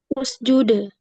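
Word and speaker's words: اسجد: Kalau dia dibaca, kalau dia dibaca di awal, maka fasjud itu dibaca apa? Usjud.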